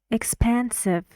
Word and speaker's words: expansive: uh Emma listen expansive expansive three syllables and where is distressed syllable listen expansive pen how many sounds in it hmm it's a little bit tricky because you see this and you think it's e but it's not it's uh like ship like bin like